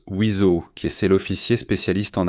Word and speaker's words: WSO: Vous avez sûrement déjà entendu ce sigle WSO, n'est-ce pas qu'il prononce Wizo, qui c'est l'officier spécialiste en armement.